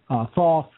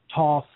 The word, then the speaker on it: Thoth: the Egyptian creator god Thoth the different pronunciations for that saw Toth folks thought I simply say both but in 1944 clearly